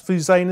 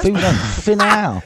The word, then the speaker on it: Finau: It's Fuzane, is it? Tony Fuzane? Fuzane? Finau. Finau, sorry.